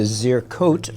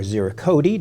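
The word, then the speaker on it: ziricote: It has the zircote or zircoti, depending on how you pronounce it, veneer on the back and sides.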